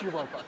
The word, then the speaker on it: Europa: Does anyone pronounce, is it spelled, is it Europa? Or? It's Europa.